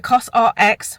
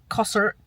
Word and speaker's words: COSRX: also picked up the cosrx which I've learned that's how you say it cos RX instead of not Coser Coser or coer cos RX um I put I